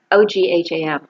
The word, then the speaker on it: ogham: om trees they're the oGH am I dunno if that's pronounced om so it's not a gam like it looks it's Owen um with the limit